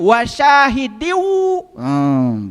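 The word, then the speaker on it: وشاهد: Itu yang namanya kasrah kasratain menghadapi wau itu idgham bigunah. Dibacanya wasyahidiwu gitu tahu saya.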